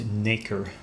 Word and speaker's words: nacre: nacre it is it's it's pronounced an acre I checked it's pure